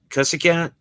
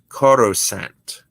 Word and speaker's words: Coruscant: Cussicant? You still can't pronounce it? It's a tricky name. Cuckicant? Coruscant.